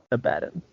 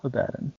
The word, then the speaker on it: Abaddon: baden second syllable ezekiel abaddon right here does it rhyme with aladdin or abba john i was more active okay i don't care i'm still calling him abaddon the brits pronounced everything